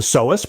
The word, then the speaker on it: psoas: It's called the psoas, pronounced S-O-S.